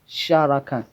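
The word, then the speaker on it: Carakan: It is C, but it's pronounced as Sharakan.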